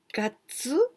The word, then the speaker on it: 月: Gatsu, here we pronounce gatsu for the months, but this kanji is also means the moon and also Monday, 月曜日.